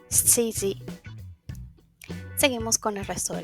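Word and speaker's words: 七時: Si recuerdan, 7 tiene 2, que serían nana y shi. Para las horas utilizamos su segunda pronunciación. Entonces, para las 7 diríamos shiji.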